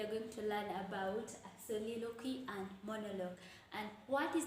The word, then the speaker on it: soliloquy: It is supposed to be pronounced soliloquy.